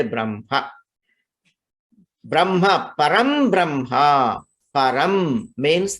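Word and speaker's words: ब्रह्म: And you know, Brahma, when you write, actually it is Ha and Ma, but when you pronounce, you say Brahma.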